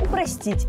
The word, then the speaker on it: упростить: сделать что-то более простым уменьшить сложность чего-либо значит упростить и никак иначе я отрастила учитель упростил дети